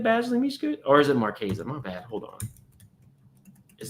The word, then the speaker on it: Marchesa: I meant Marchesa.